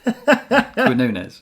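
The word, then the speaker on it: Quiñones: No, yeah, pronounced right. Quinones.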